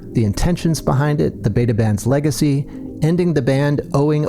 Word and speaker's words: Beta Band: It's something that's never bothered me, but we say Beta Band, but it's never bothered me, you know.